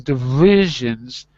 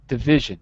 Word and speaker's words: division: handsome that's all right look at where my lip is when i say division it's like guess so my bottom lip just quickly touches my teeth division division yeah that's it